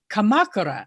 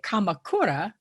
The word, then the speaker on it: Kamakura: But for instance, there's a famous town called Kamakura, and Americans will say Kamakura, or let's say Hiroshima.